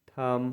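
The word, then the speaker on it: thumb: बीटी ट मतलब रन एम के बाद अगर बी आ है तो भी हम लोग बी को साइलेंट पढ़ते हैं जैसे टी एच यू एम बी थम मतलब अंगूर था एल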